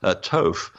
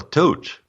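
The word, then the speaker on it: Thoth: from translations for example Toph there's no such thing as Toph that's a Greek transliteration of the god men of Egypt called djibouti what a hot day or tote that's the original pronunciation but because language has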